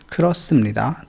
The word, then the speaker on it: 그렇습니다: ख्रोसमनिदा। तो ये जो ह है ये साइलेंट है यहाँ पे, ख्रोसमनिदा, ये